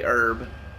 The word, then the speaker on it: herb: about how that's pronounced I say herb silent h and all that like